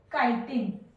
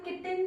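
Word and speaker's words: chitin: Fungi में काइटिन, कोई कोई किटिन भी बोलते हैं इसे, बट काइटिन, सबके अपनी अपनी प्रोनाउंसिएशन है, तो काइटिन इनमें होती नहीं।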